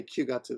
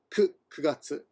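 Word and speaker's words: 九月: And yeah, again, 9 can be pronounced as ku or q.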